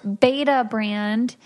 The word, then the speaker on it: Betabrand: So Beta Brand is That's right. I pronounced it correctly, right?